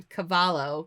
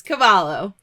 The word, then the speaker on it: Cavallo: I think that is a cult classic that's Cavallo Cavallo Cavallo Cavallo so used to pronouncing the devil l in Spanish where you